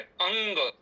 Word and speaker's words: अंग: यहां पे जो लिखा हुआ अंग शब्द है कभी-कभी छात्र या भ्रम कर जाते हैं कि पहले म को बोले कि ग को बोले।